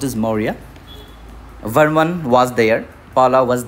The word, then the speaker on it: Maurya: It is pronounced as Maurya.